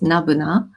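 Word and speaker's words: n-buna: is n - bu and and it's it's pronounced as Nirvana and then one female singer called 3c all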